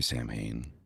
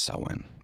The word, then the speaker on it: Samhain: Merry Sam Hayne, Sin, however you want to pronounce it. Um, I know it's sin, but it's spelled Sam Hayne.